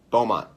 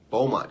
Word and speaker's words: Beaumont: it's not bits to I feel like it's two it's two syllables it's not Puerto Rico but Beaumont Beaumont California that's what it is